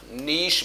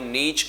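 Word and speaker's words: niche: यह जो वर्ड है इसका उच्चारण नीस बनता है और जिन लोगों के दिमाग में नीच आया है प्रभु सुधारना संभव न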